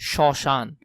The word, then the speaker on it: শ্মশান: শব্দের প্রথম বর্ণে ম ফলা থাকলে সেই বর্ণের উচ্চারণের সময় ম এর উচ্চারণ অ এর মত হয়। যেমন শ্মশান।